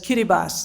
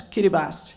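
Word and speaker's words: Kiribati: known an independent country now known as as Kiribbas. That's how you pronounce it. It used to be the Gilbert Islands, a British territory. So that's Kiribas.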